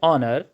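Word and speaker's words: honour: बाज़ दफ़ा ऐसे नाउन्स जो H से शुरू हो रहे हैं लेकिन उसमें H की आवाज़ ह नहीं निकल रही बल्कि वो साइलेंट हो जाती है। ऐसे मौके पर रूल बदल जाता है। अब हमें अ हेयर नहीं एन एयर, एन ऑनर, एन आर इस तरह से कहना पड़ेगा।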